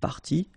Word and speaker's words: partie: good news is that you won't pronounce these s or es. Okay, so it will go like partie, partie, and then here same thing, partie, partie, and partie.